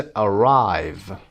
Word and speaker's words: arrive: قسمت دومشون استرس میگیره. مثل arrive نه قسمت اول، قسمت دوم.